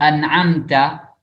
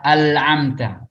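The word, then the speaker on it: أَنْعَمْتَ: Jadi bukan an'amta, tapi dia baca al-amta.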